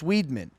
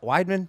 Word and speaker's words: Weidman: same thing happened to chris weedman it's like weidman i'm sorry dude i'm